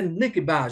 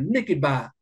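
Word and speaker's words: נקבה: Mais le mot grec qui est utilisé, le mot, pardon, hébreu qui est utilisé, c'est nekeba. Je prononce tout ça en français, nekeba. Donc, nekeba qui veut dire féminin.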